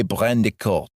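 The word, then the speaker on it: Brandicourt: Oliver Brandy Court and it actually looks like it's spelled in a French style way Olivier brandico so inappropriate Tony in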